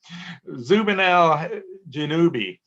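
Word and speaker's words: Zubenelgenubi: It is, in the South, we pronounce this word B, choice B, Zubin al-Janubi.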